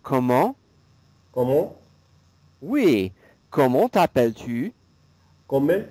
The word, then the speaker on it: comment: Oui, so C-O-M-M-E-N-T, it sounds like this. Comment? Comment? Oui, it's like an sound. Comment?